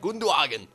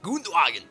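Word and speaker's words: Gündoğan: uh H Schweinsteiger and gagen in Midfield even though I always say his name wrong I just like saying it like gwag so uh yeah come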